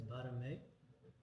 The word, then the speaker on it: Barmey: My name is Barmey. The formal way to pronounce my name, the Cambodian way, is Barmey.